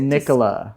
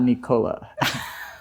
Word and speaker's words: Nicola: when I got here it's Nicola NOA not Nicola it's okay though I